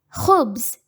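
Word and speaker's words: خبز: hubs hubbs means bread in this word the first letter ha has dhamma on top of it so it will be read as ho and ba has sukun on top of it so it will be read as ba the next word is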